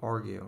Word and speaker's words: argue: basement of a building argue argue take a notice that the stress is on the first syllable here argue right give reasons or